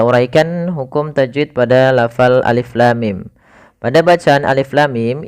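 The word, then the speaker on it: الم: Jangan sampai kita membacanya misalkan alama misalkan ini bacaan yang kurang atau bacaan yang salah ya. Maka apa yang perlu kita kerjakan di sini? Maka kita harus baca dengan huruf-hurufnya. Maka kita uraikan satu-satu alif.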